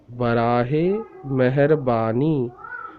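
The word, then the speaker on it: براہِ مہربانی: Bealif ba, noon choti ni, bani, barahe meherbani, barahe meherbani, barahe meherbani.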